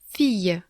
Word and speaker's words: fille: L anglais, comme lapin, soit il est doublé dans le mot et il se prononce ye, un peu comme un Y, par exemple, fille.